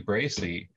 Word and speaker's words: Bracey: of utah uh your last name is pronounced bracy is that right bracey is an open-hearted mystic i'm gonna ask